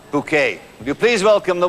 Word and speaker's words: Bucket: he played the wonderful mrs. bucket pronounced bouquet will you please welcome